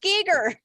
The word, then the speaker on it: Giger: It's actually pronounced Giger. I've seen it on demand. I'm gonna watch it one of these days. It looks really So good. in that they pronounce it Giger.